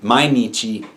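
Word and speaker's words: 毎日: Sun heat and now you have this being pronounced as Nietzsche which would be every and mainichi every day let's take another example this one's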